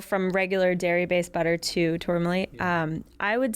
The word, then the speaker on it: Tourlami: Is there a big difference between using Tourlami?